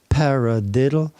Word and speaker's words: paradiddle: Le paradiddle, c'est un mot anglais, et quand on le prononce à l'anglais, c'est vraiment paradiddle. Alors, il y a un accent sur le pa, ce qui veut dire qu'il y a un son plus fort.